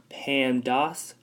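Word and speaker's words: PEMDAS: this whole thing here PE m da s again that is pronounced pandas and this right here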